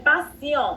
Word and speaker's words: patient: Pour 100% des patients, la T, dans ce cas, ça se prononce comme C.